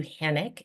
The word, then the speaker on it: Hanik: My name is Uh Hanik. It uh rhymes with panic which is something that I don't do very often.